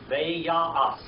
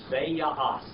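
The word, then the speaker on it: וַיַּעַשׂ: But we're just going to use the modern Hebrew pronunciation, too. I don't want to totally confuse you, okay? I just want you to know it's there. All right. Veya'as.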